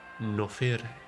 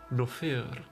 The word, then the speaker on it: Nofire: Or, you know, in correct Argonian pronunciation, that's actually Nofire. Nofire. Which also sounds like no fear, which just really works for us. Nofire.